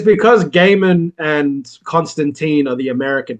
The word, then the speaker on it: Gaiman: out because you put you called him Neil Gman it's Neil gaim mate he's he pronounced his name Neil Gaiman not Neil Gman oh was that what